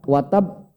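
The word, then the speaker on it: وَتَبَّ: di ujung dan bertasydid cara bacanya beda ditahan dulu baru dipantulkan contoh tabbat Yada Abi lahabiw uh watab watab Kalau Pak lihat wattab itu wattab kalau bapak berhenti disitu ini jatuhnya pantulan besar Maka kalau Pantura besar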